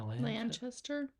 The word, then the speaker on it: Lanchester: I think that's how that's pronounced. Mary Wollstonecraft Shelley is Elsa Lanchester. Wait, is that right? Lanchester? Lanchester? Yeah, Lanchester.